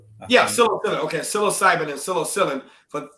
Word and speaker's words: psilocybin: Can I ask your thoughts on Colorado legalizing psilocybin and I don't know how to even pronounce that. I want to say Psilocybin. Yeah, psilocybin.